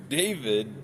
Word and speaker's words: D4vd: Earlier this week, uh, singer and producer David D4 D4 VD is how it's spelled.